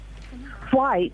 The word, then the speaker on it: white: And also, you Americans say white. White. You pronounce the H in white.